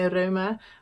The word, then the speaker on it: Rauma: I think Norwegian people say Rauma, but I just find that a weird word, so I say Rauma because that's how you would pronounce it in Dutch.